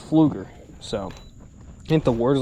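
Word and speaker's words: Pflueger: pronounce the name because it starts with a P. I was like, how in the world do you say the name of the brand? And well, it was Fluger.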